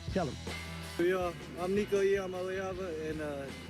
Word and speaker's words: Iamaleava: Yeah, I'm Nico Iamaleava, and the correct way to pronounce my last name is Iamaleava. Iamaleava. I'm getting better. Iamaleava. Iamaleava. Not lava. Ava. Iamaleava.